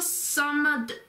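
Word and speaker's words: الصَّمَد: Again, you put the emphasis on the se sound, so it's Allahu samad. You hold the hus sound for a bit, because that's how it links. So Allahu samad.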